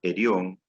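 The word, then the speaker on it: ἔργον: Una de ellas, geip, que se pronuncia geir, que significa mano, y epiop, que se pronuncia erión y significa trabajo.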